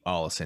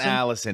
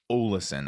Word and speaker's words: Ollison: Ollison. Yeah, you know what? There's no accent. And I've been saying Ollison. Ollison. Yeah, it's not Allison. It is Ollison, I think.